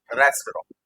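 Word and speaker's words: restaurant: रेस्टोरेंट होता है, रॉ कर दो फिर टी मत लगाना, रेस्टोरेंट।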